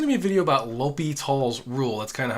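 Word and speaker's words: L'Hôpital: That's kind of how you pronounce this, L'Hopital's. Some people kind of say like La Hospital. It doesn't really matter, but the correct way you're supposed to say is L'Hopital's.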